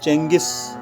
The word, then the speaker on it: Genghis: We pronounce it Genghis, but its spelling is little bit different.